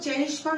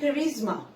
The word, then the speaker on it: charisma: হ্যাঁ, সো his prestige and charisma, এটার উচ্চারণ কিন্তু চেরিশমা না, এটার উচ্চারণ charisma, helped him win the support of the world.